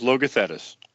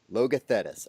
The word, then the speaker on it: Logothetis: It is pronounced Logothetis. Logothetis.